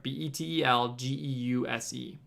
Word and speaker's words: Betelgeuse: up in the corner you can see how it's spelled right here b-e-t-e-l-g-e-u-s-e um and the term betelgeuse it's not super